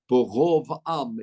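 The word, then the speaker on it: ברב עם: For those really into grammar, it's a kamatz katan, so it would be pronounced Borov Am, even in Sfardit, Borov Am, like the word kol.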